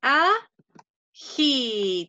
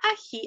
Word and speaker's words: ají: Un ají. Tiene un acento en la i. Y yo digo, la ají.